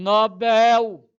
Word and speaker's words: Nobel: agora ganhou o Nobel a pronúncia oxítona Nobel aluno meu não vai para anunciar Nobel é Nobel é oxítona Olá tudo certinho olha